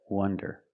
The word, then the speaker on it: wonder: Now let's talk about wonder with the closed sound. Uh uw wonder.